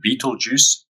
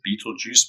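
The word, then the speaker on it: Betelgeuse: is this one called Beetle Juice funny sort of spelling but that's how you pronounce it Beetle Juice much like the juice that you drink and it's part of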